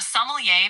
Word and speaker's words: sommelier: A sommelier, pronounced Someday.